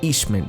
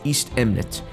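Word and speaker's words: Eastemnet: the way i'm sorry i keep saying eastman but the proper way to say it is east eminent so this is a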